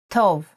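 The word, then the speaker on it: טוב: Tov is good in Hebrew, in the masculine form.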